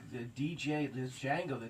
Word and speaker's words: Django: like the dj the django the d silence is going to drop the just like django said the d is silent i'm just going to